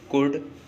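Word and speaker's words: could: जैसे डी से पहले, जैसे कुड, वुड, शुड, in words में देखिए डी से पहले एल आया है और डी से पहले अगर एल आता है तब भी एल साइलेंट होता है।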